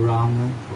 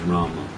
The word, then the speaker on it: Rama: Should we say Ram or Rama? Well, in my opinion, the full Sanskrit pronunciation is Rama. The Bengali pronunciation may be Ram. In Bengali and Hindi also, the M in itself constitutes that akshara. So when you say Ram, the A part of the Ma is understood.